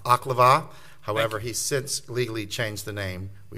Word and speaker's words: Oklevueha: For Your Honor's information, it's pronounced Oklevueha.